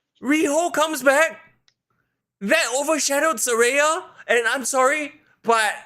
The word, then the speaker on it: Saraya: How do you pronounce the name? Saraya.